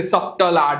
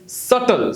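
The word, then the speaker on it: subtle: this इ नॉट सबटल लट of people से सबटल सबटल इट्स नॉ सबल इट इ सटल बोला सटल ट वेरी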